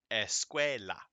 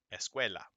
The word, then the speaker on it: escuela: stress of a word the stress of a word naturally falls on the next to last syllable all right so like this calculator perro escuela whatever the next to